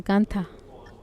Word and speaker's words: Gandharva: dioses, humanos, asuras y Gandharvas, y Gandharvas, Gantha, se debería pronunciar Gantha.